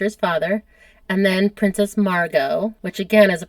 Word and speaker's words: Margot: And then Princess Margot, which again is a pronunciation thing.